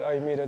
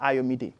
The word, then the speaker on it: Ayomide: So you pronounce it midday. So even if you don't know how to pronounce that midday, it's like Ayomide.